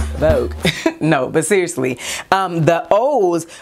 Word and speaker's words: Voogue: So I am doing a video in collaboration with Vogue Me, and it is spelled V-O-O-G-U-E. Vogue.